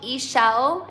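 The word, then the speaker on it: Ixchel: It's called Eshell. It's spelled Ix C H E L.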